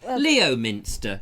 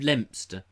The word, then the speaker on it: Leominster: Leominster instead of Lempster.